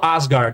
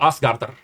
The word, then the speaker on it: Asgard: Eu não falo Asgard, eu falo Asgardar. É a pronúncia nórdica, tá?